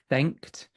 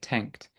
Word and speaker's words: thanked: So, for example, thanked, that th sound you pronounce slightly more as a t, like tanked, just for once in the entire test.